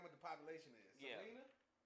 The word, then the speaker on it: Salina: Salina? It's in the middle of Kansas. But it's called, you would say Salina, but I learned while I was there it's called Salina.